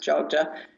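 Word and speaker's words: Yogya: jja but strangely enough spelled y o g y but pronounced Joga that's considered one of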